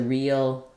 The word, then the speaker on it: real: the word real but because we have the L at the end when I'm saying eel eel there's a little bit of a gliding from the high front vowel to that dark L that's because when a word ends with L it often has a little bit of an uh sound or an uh